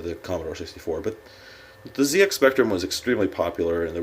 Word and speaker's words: ZX Spectrum: plus two you'll notice I say ZX Spectrum not ZX that's the British pronunciation of the letter z so I don't pronounce